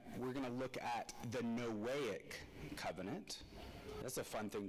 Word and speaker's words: Noahic: gonna look at the noahic Covenant that's a fun thing to say right uh it's pronounced sort of like noahic as in there's no way God is ever going to do that again yeah that you shouldn't